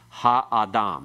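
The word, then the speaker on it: הָאָדָם: The ah part has no accent. The ha has a secondary accent. The major accent still at the end. Ha-adam. Everyone? Ha-adam. Again, ha-adam.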